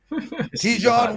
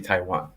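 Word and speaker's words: Taijuan: yep oh yep yep that hot scene okay ton Walker strikeouts over three and a half let's go pres I love how you pronounce everything French but it's actually Taiwan but that's okay um let's go to Taiwan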